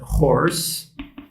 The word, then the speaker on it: horse: inglês eu tenho né Horse então aqui h pronunciado né com som de R equiparado em português eu vou ler o